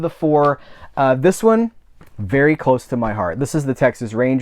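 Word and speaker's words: Vidor: Um, and and you know, you might be you might be thinking like, well, is it Vor? I always heard it was V. It's Ver. He pronounced he I I read in my research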